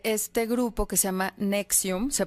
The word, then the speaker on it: NXIVM: una investigación sobre este grupo que se llama nexium se pronuncia anexión pero es en xv y latina m este